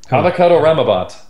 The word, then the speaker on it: Avocado Ramabat: Avocado Ramabat. There it is. Avocado Rama. Yeah. Like a Rama, like Obama.